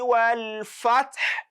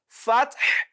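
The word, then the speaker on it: الفتح: إِذَا جَاءَ نَصْرُ اللَّهِ وَالْفَتْحِ. Fath. You can hear the h sound. وَالْفَتْحِ. Fath. Not وَالْفَتِحِ. So it is not وَالْفَتِحِ.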